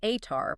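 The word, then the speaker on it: Ātar: Fire itself, Atar, pronounced A-H-Tar, was held as sacred.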